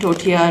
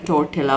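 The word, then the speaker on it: tortilla: ये मैं लेकर आई हूँ टोटिया रैप्स, या टोटेला बोलते हैं इसको, टोटिया बोलते हैं, दो प्रोनाउंसिएशन है।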